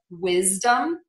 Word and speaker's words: wisdom: on ourselves here and we are going to say a z for the letter s before a voiced sound in words like wisdom cosmic and spasm so again wisdom cosmic and